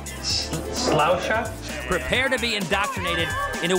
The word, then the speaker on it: Sláinte: And my favorite, things you need to know how to say when drinking here. Sláinte. All right. Sláinte.